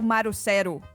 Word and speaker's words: Marcelo: O Marcelo, você não é Marcelo. Você provavelmente vai ser tipo Marucero. Mário, assim. sério? Marucero. Porque eles também não falam o L.